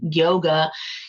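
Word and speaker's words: योग: I mean, in fact, yoga itself, the word means union. So, yog in Sanskrit, if we spell it the way the Sanskrit translates, it's Y-O-G with a little dot that says, we say yog.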